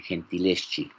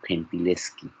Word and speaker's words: Gentileschi: En italiano parece que así se pronuncia el Gentileschi, como Gentileschi.